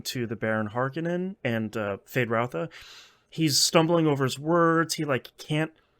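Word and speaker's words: Feyd-Rautha: Is that how you pronounce that again? Fade Routha, Fade Routha.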